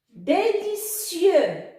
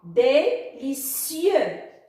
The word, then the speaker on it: délicieux: Délicieux. Le X muet à la fin ne se prononce pas. Délicieux.